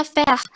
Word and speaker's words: faire: Jadi E di dalam bahasa Prancis itu di akhirnya nggak dibaca. E yang kalau dari terakhir kata itu nggak dibaca. Jadi fair. Jadinya ya faire. R-nya kalau di bahasa Prancis kayak ada H, kayak di tenggorokan gitu loh, kayak ho, kayak faire, kayak Fair.